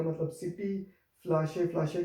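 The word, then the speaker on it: Flasche: फ्लाशे, फ्लाशे का मतलब बॉटल।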